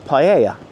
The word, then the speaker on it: paella: Go and see if we can find a little cafe cuz I did see somewhere does paella here or paella as it's pronounced over here.